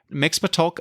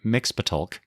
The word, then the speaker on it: Mxyzptlk: It is the Peter Pan book and record set BR-520 featuring 2 Superman tales, Mxyzptlk Up, Menace, and Alien Creatures.